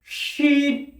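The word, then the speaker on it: شين: শিন উচ্চারণ হয় জিভের মতো, অর্থাৎ জিভের মাঝখান এবং তার সোজাসুজি ওপরের তালুর সাথে লেগে শিন শিন শিন।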